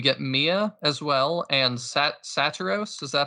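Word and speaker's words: Saturos: And then we get Mia as well, and Satiros.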